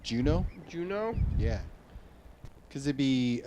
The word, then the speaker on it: Juneau: Is it Juno, right? Juneau. Yeah, Juno. It's not coming up here. Oh. Maybe it's spelled.